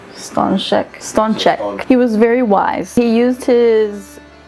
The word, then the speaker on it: Stańczyk: Baby, you pronounce this. So it's Stańczyk.